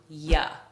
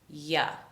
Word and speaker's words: you: this word here you don't expect native speakers to pronounce this word fully instead we reduce you to yeah yeah let's look at a